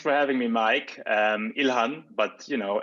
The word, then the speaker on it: Ilhan: the show uh welcome again to the show thanks for having me mike um ilhan but you know it's all good uh i